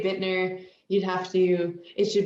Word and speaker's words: Buettner: and you know what it's uh not pronounced the way it's spelled anyways so what is it